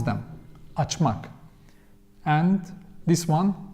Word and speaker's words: açmak: So, and when it comes to pronounce them, we use mak, mek, but according to the vowel harmony, so açmak, that's how we pronounce them, açmak.